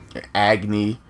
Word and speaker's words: Agni: byah new jet stream for onggi and Rudra Agni and Rudra I keep saying it wrong okay so this is